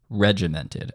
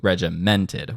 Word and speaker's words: regimented: Notice where the accent is on that word regimented. That is a front-loaded accent. Regimented as opposed to regimented, which is sort of where I am setting it.